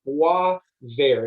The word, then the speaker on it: Boisvert: or college uh but i'm going to phonetically spell it for you so it's b w a v a ir wah ver it means actually greenwood because bear is green